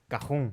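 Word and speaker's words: cajón: As you can see, we've got our cajon. Yes. 발음 원래 뭐죠? 까홍.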